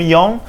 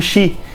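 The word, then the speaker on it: 四: Em japonês, o número 4, que pode ser pronunciado como yon, também pode ser pronunciado como shi.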